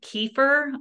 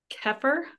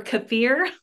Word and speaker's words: kefir: broth in there some I always say kefir but I was corrected it's keer or cfir I think that's how you say it um so it's basically